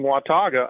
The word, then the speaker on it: Watauga: First, you did very well at saying Watauga. Many people have trouble pronouncing that word.